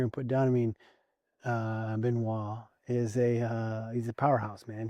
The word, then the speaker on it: Benoit: And for the fans were actually calling you out on the way you pronounce this fighter's name, but Benoit, you were calling him Benoit.